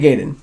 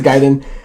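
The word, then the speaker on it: Gaiden: which was a ninja how do you pronounce it gayen or giden I say giden G I always said Ninja gayen even though I'm it is bet you is giden I a little funny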